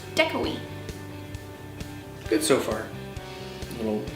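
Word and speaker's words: děkuji: one thing we learned was thank you it's pronounced decoy good so far a little few bumps along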